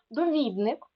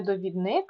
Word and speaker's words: довідник: добуток від слово добути довідник так не довідник а довідник тому що довідатися А зручний від слова